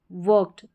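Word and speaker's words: worked: अब यह है वर्क्ड। वर्क्ड ट साउंड आ रहा है।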